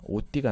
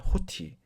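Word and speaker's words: ὅτι: 여기 보면 오디띠가 나옵니다. 그 재건된 코인의 발음으로 하면 오디, 에라스미안으로 발음하면 호티.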